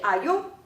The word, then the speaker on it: ayo: 这里有一个例子是 ayo，那个 O 上面画了一